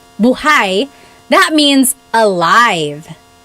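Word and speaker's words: buhay: If you say buhai, the emphasis is on the second syllable. Buhai.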